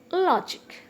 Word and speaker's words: logic: sympathetic academic then academic logic here this word consists of only two syllables so that's why uh jig is one syllable and law is one syllable so that's why it is the stress is at the beginning itself historic phanetic and look